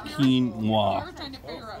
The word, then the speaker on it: quinoa: So this is quinoa salad. I always say it wrong. I had no idea. I don't know how I could ever remember that, but it's quinoa. Think of like a karate move.